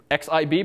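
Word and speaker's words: xib: main window dot nib so x ib but pronounces nib these days um that's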